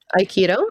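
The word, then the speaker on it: Aikido: Iikido. Is that how you pronounce it? Iikido. Mhm. Yep. Iikido.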